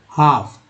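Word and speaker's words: half: पढ़ा गया, तो अबाउट हाफ। देखिए हाफ बोला गया ना, तो हाफ का मतलब एल यहाँ पर जो है साइलेंट है।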